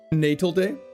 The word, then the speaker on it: Natal Day: It's pronounced Natal Day like Navy.